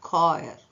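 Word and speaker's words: choir: ಚ ಉಚ್ಚಾರಣ ಲೆಕ್ಕದಲ್ಲಿ ಬಂದಿದೆ ಇವತ್ತು ಕ ಉಚ್ಚಾರಣ ಲೆಕ್ಕದಲ್ಲಿ ಬರೆಯುವ ಪದಗಳ ಬಗ್ಗೆ ನೋಡಲಿಕ್ಕೆ ಇಷ್ಟಪಡುತ್ತೇನೆ ಸಿಎಚ್ ಓ ಐ ಆರ್ ಕಾಯರ್ ಸಿಎಚ್ ಓ ಆರ್ ಯು ಎಸ್ ಕೋರಸ್ ಟಿಇಸಿಎಚ್ tech ಟಿಇಸಿಎಚ್ tech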